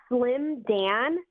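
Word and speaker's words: Slimdan: on how do you say is it's just slim Dan uh s l i m d a and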